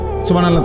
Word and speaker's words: সুবহানাল্লাহ: পরে এটারে মেশিনের মতো সুবহানাল্লাহ সুবহানাল্লাহ সুবহানাল্লাহ সুবহানাল্লাহ সুবহানাল্লাহ, কিচ্ছু হয় না। এটা হা উচ্চারণ না হলে তো তাসবিহ হয় নাই। শেষের গোল হাটা সাকিন করতে হবে এবং প্রত্যেকবারই নিঃশ্বাস ফেলতে হবে।